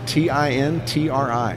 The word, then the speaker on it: Tintri: It's actually Tintri. Actually, it's an accent. Tintri is Gaelic for lightning. So, there you go. So in Gaelic, it's actually has the accent on the final I.